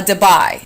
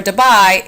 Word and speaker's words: debye: It's a debye. And the symbol for a debye is capital D. 1 debye, and that's spelled, by the way, D-E-B-Y-E.